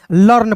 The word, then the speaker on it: learn: देखिए एल इ आर एन को लर्न पढ़ेंगे। इ ए साइलेंट होता है दोस्तों।